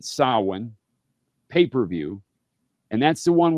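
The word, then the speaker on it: Samhain: Corgan NWA Sin and it's spelled S A M H A I N but you pronounce it Sin pay-per-view and that's the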